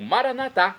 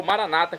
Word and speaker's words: Maranata: pai eterno e agora eu clamo maranat como dizemos nós católicos ou Maranata como dizem nossos irmãos separados os evangélicos ou protestantes não importa pronúncia o significado é o